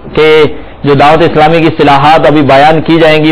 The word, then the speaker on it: اصطلاح: اصطلاح طا کے نیچے جو ہے زیر، اس کا تلفظ یہ اصطلاح، کیونکہ تلفظ کی درستی والا بھی مدنی نام ہے.